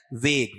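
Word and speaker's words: vague: वेग। ये वेग यू नहीं है। इसका उच्चारण क्या है? वेग।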